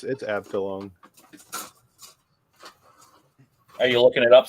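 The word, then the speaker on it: Abteilung: Abtulung. Abtilung. Of course, if it's German, we're probably way off with the pronunciation. Yeah. It's probably a chew. No, it's Abtilung.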